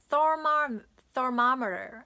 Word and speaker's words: thermometer: thermometer 이렇게 한대요. 이 th로 시작해서 th로 꼭 시작해 주셔야 돼요.